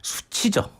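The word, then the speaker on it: SU7: 어떤 정차 현장에서는 아무래도 수치죠 아 수치 수치 예 뭔지 아시죠네 어 샤오미가 만든 수세 아 예 그러니까 이제 중국어 7 발음이 치가 되니까 수치 이렇게 하죠 깜짝놀 그렇죠 우리의 언어로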